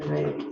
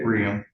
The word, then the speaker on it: Raymond: And I seem to recall that your name, I just realized, but your pronunciation is different than Raymond. Is that correct? Riam.